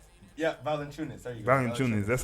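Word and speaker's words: Valančiūnas: Valanciunas.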